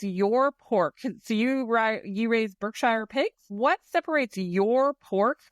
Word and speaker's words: Berkshire: And actually back in England, we would pronounce that Berkshire, not even Shire. That Shire pronunciation, again, is a very North American thing.